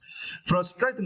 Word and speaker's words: frustrating: a frustrating yeah and for these words you need to stress the second syllable right straight okay frustrating list okay frustrating list